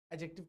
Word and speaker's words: adjective: the point इ clear एडजेक्टिव का D silent होता है ठीक है इसका काम